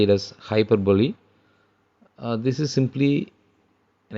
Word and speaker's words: hyperbole: hyperb is used this particular uh some people pronounce like hyperb but actually you have to say it as hyperbole uh this is simply an exaggeration the poet